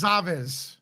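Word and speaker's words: Goncalves: it's on Kaylee, and you're gonna correct me because I know I'm gonna Kelly mispronounce. Gonzalez.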